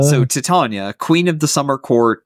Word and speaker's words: Titania: So I think the agreed upon pronunciation is Titania, because that's how it's pronounced in Shakespeare.